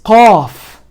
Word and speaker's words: qaf: This qaf comes in from more deeper than where the kaf is pronounced.